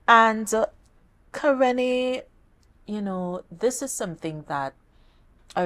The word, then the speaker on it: Kerrene: And it gives me such great pleasure to welcome Kerrene.